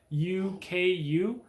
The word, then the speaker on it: leuku: A larger version of a Puco is called a leauku, but it looks like luku. It's like Leuku. But I spent a lot of time with them trying to say it right. Leauku.